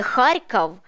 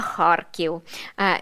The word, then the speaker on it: Харків: не Київ а Київ не Харков а Харків не Днепр а Дніпро